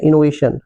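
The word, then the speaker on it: innovation: अब यहां पे इनोवेशन है ना? यहां पे सन टी आई ओ एन जो है इसको हम सन पढ़ते हैं। ठीक है ना? सन इनोवेशन सन।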